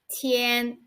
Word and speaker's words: 天: one the simplified chinese it is pronounced as tien tien okay look at it